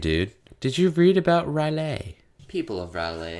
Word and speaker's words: R'lyeh: did you read about railay people abroad oh god is pronounced ruh Leah or a ruler oh yeah is a